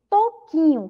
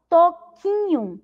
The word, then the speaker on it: Toquinho: Mas quando pronunciamos, nós pronunciamos esse U? Não pronunciamos. Por que que isso acontece, pró? Porque toda vez que esse QU vier acompanhado, né, das vogais I e E, nós não ouvimos a letra U, nós não pronunciamos a letra U.